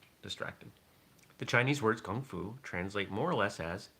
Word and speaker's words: kung fu: can have kung fu i notice that i've got a little bit of that g sound i try to be authentic when i know how to pronounce things not ka but it's more of a it's a slightly different sound than we have in english kung fu um you